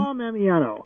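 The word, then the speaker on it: Tom Ammiano: thank you now I don't want to Mis mispronounce the representative's name so what is the name of the gentleman Tom Amano Tom Amano okay from San Francisco great introduced a landmark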